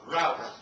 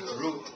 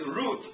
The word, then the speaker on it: route: right now pronunciation now this word even American you pronounce it as rout you British you pronounce it as root in Singapore we use don't confuse you conf don't confuse right so use British so it's root now I leave it